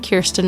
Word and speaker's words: Kirsten: in pronouncing my name Kirsten rhymes with Pearson I send that out